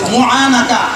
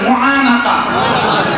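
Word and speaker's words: معانقة: মুহানাকা কি বলে মুনাকা একটু উচ্চারণ করে বলেন মুহানাকা উনুকুর মানে গর্দান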